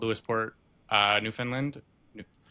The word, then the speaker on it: Newfoundland: I live in a small town called Lewisport, uh, Newfoundland. New- keep on saying it wrong. Newfoundland, Newfoundland. Understand, Newfoundland.